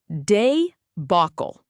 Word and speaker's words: debacle: The word is debacle, pronounced as day-bac-cle.